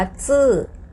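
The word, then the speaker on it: 字: จื จือ ตัว นี้ อ่าน ออก เสียง ว่า ซื้อ ซื้อ เป็น เสียง 4 ค่ะ ตัว อักษร นั่น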